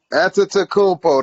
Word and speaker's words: Antetokounmpo: Antetokounmpo, there we go.